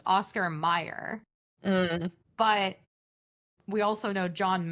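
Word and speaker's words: Oscar Mayer: Yeah, but I do I I think I have an explanation for this because it's pronounced Oscar Meyer.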